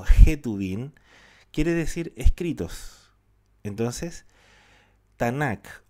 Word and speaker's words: Tanakh: Acá en estos momentos, cuando nosotros nos referimos al Tanaj o al Tanakh, ¿ya? Recordando que en hebreo la letra Kaf también se pronuncia Jaf.